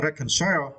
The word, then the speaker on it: reconcile: And for the final words, I want to share with you the words reconcile in the verb, right? And for this word, you need to stress the first syllable, okay, reconciles.